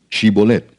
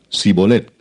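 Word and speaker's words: שִׁבֹּלֶת: Si él respondía: No, entonces le decían: Ahora pues di Shibolet. Y él decía Sibolet, porque no podía pronunciarlo correctamente.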